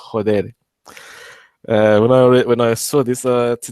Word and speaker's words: joder: In Spanish, the F would be would be exchanged for an. It's written with F, but it's read as a H. Joder.